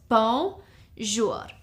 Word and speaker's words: bonjour: would simply say bonjour it's two syllables bonjour so you would say bonjour which means me I I bonjour okay mattel